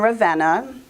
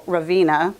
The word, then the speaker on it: Ravenna: i found the class in Ravenna which I used to call Raveena before I know how to pronounce it and it was an